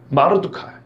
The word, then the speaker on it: 모르드개: 모르드게. 여러분 바벨론 역사 혹은 페르시아 역사에 모르드게라는 사람이 상당히 많이 나옵니다. 모르드게라는 이름은 흔한 이름 중에 하나입니다. 마르두카 뭐 이렇게도 발음이 됩니다.